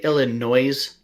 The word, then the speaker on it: Illinois: did you just say illinois did you actually pronounce the s at the end of illinois yeah that's how it's